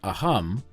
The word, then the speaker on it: Assam: the Indian state of Assam in India they pronounce it a hum but if I said it like that you would all think I was clearing my throat join me now for